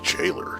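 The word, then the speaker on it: gaoler: that they used the i think that's the old english spelling but it's pronounced jailor just like j-a-i-l-e-r of course i'm going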